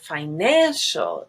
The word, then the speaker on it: financial: two are schwa accident finest is white but financial is black there's a little bit